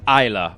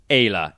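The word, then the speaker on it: Ayla: eh y el a I always thought it was Isla but it's Ella in Japanese a E and la simple I think there are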